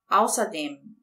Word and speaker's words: außerdem: Eu posso entonar aqui a última sílaba, a primeira ou a última.